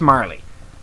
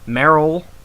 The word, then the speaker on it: Marle: So it's Marley. Meryl is now Marley.